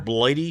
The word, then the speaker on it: Blighty: makes um some military reproduction things what's the spell it blighty corner blighty corner like bladey as a wound it's a